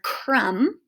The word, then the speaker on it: crumb: so this m b sometimes when m b is together like at the end of a word like the word crumb it just says um so